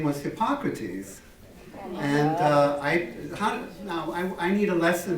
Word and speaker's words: Hippocrates: And his name was Hippocrates. And I need a lesson from you. I want to say it correctly. Do you say Hippocrates? Hippocrates.